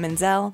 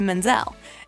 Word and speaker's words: Menzel: end up changing her last name from menzel to menzel and the reason why is really simple she decided to drop the t in the name so it would be easier for people to pronounce it marry him and